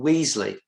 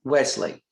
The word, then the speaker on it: Wesley: a previous winner representative bill weasley oh i'm sorry i mispronounced that it's bill wesley but usually weasley works too um something from joe